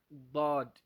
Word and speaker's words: ضاد: هكذا ينطق بالضاد، ضاد، ضاد، ضاد، ضاد. ولا تنسى الحرف الأخير في الضاد الذي هو الدال. ضاد، ضاد. Don't forget the last letter in ضاد, which is D, the letter D.